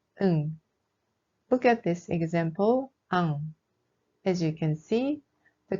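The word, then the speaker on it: 앙: Then we pronounce this word ang. Be careful not to pronounce the ending loudly. It's just ang, not angul.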